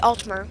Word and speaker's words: Altmer: They left the Altmer because the Altmer consider. I'm gonna have to really pronounce that T from now on because I told you guys about the Altmer.